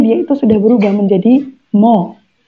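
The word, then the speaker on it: 뭐: itu sudah berubah menjadi mo tulisannya memang muo kayak gini Tapi bacanya mo mo ini sama ya jadi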